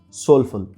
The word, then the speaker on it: SLFL: She has relaunched it under the name SLFL, which stands for Student of Life for Life, but is pronounced soulful.